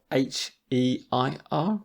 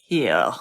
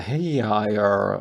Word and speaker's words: heir: And if you see it written down, anyone would think it's pronounced here. Yeah, so the prince is the heir of the throne.